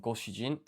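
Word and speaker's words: ご主人: This has a reading of jin for a total of goshijin.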